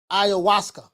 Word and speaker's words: ayahuasca: You say it's pronounced ayahuasca.